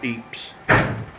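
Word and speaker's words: Ypres: in a famous battle was going on called eeap's yeah which is spelled why p r e s eats in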